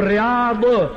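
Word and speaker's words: رياض: पर जेको रियाद पढ़िया लिखिया मां पढ़ियल खे थो चवां, उन जी इंग्लिश में स्पेलिंग ॾिसो, रियाद जेकॾहिं आख़िर में डी एच आहे त पोइ द्वाद आहे, जे आख़िर में ज़ेड आहे त पोइ रियाज़ आहे।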